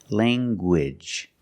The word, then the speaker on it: language: You have the nasal sound, lang, and the hard g. Gwidge. Language.